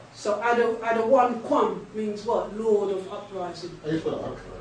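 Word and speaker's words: אדניקם: How you say it in the Hebrew is what? Adawan Kwam.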